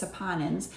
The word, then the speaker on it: saponins: Sometimes I say that word kind of wrong, but I believe it's saponins is the correct way to say it.